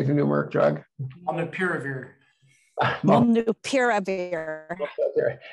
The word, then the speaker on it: Molnupiravir: Molnupiravir.